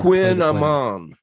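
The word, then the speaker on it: kouign-amann: I guess if I looked it up, I could have actually Quin Amon, and it's a pastry.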